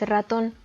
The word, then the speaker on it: ratón: y queda así cajón la segunda palabra es ratón muy parecida a la anterior la sílaba tónica recae en la última sílaba terminan en la